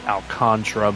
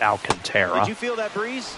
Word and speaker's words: Alcantara: Some pronounce it Alcantra, but I'm pretty sure it's pronounced Alcantara.